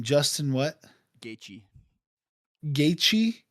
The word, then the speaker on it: Gaethje: How do you pronounce his name? Justin what? Gaethje. Gaethje? Gaethje.